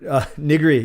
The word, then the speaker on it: nigiri: Nigiri, yes. Nigiri. You actually say it like nigiri, like that in Japanese.